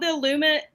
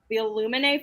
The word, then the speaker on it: Illuminae: It's called Jimina, but it's called the Illumine. Okay, I always say it wrong. The Illuminae Files.